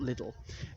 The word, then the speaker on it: Liddell: I think it's pronounced Liddell, not Liddell.